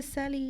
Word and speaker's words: Sally: And shout out to Sally. Yes, and it's Sally, not Celie, by the way.